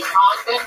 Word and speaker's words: Congdon: That's Kimberly Congdon. Follow Kimberly on Twitter at, what is it again? Kimberly Congdon. Kimberly Congdon, spelled like it sounds.